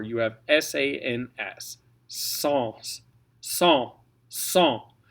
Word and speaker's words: sans: Sans. Sans. Sans. Now, if you're talking Saint-Saëns, it's going to be pronounced different. We call this the Saint-Saëns rule. Okay, but sans, S-A-N-S, is sans, sans cesse.